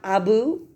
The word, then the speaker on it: Abu: Do you have Abu? It rhymes.